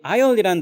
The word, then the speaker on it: aisle: 아름다운 섬 여러분 여기 아이라 단어는 섬 아일랜 아시죠 그 단어의 줄임말이에요 둘 다 S 발음 없는 것에 조심하세요 아시겠죠 그다음에 글쎄 나는